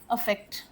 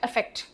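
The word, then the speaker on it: effect: और एग्जांपल दूं आपको अफेक्ट अफेक्ट दोनों प्रोनाउंसिएशन सेम है। अफेक्ट इफेक्ट इफेक्ट नहीं होता है वो।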